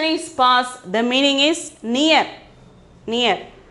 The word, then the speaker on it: पास: Pronunciation is pass.